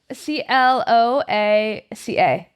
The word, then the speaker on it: cloaca: it's CLOACA.